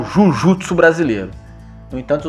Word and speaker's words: Jujutsu: E ele quis criar o Jujutsu brasileiro. No entanto, os japoneses aqui no Ocidente pronunciavam a palavra Jujutsu de uma maneira que dava a entender aos ocidentais que era Jiu-Jitsu que eles estavam falando,